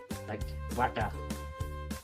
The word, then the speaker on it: Bata: Actually, it's pronounced differently, like Bata, but it's in English written like that, B-A-T-A.